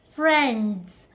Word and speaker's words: friends: So mid-D is not silent here because we just speak little fast, so we just call it friends. But friends, no, that's incorrect. Just call it friends.